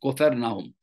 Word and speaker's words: Capernaum: It's pronounced Capernaum. Kofar means house. Nahum is the name. House of Nahum.